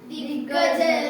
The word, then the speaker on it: ದಿಗ್ಗಜ: ಒತ್ತು ಘ ಋ ಋ ದಿಗ್ಗಜ ಋ ದಿ ಘ ಋ ದಿಗ್ಗಜ ಋ ದಿಗ್ಗಜರು ನೋಡಿ ಗ ಗೆ ಗ ಒತ್ತಿ ಇದೆ ಅಲ್ಲಿ ಉಚ್ಚಾರ ಮಾಡಬೇಕಾದರೆ ಒತ್ತಿ ಉಚ್ಚಾರ ಮಾಡಿ ಹೇ ಹ ಕೇತ್ವ ಹೆ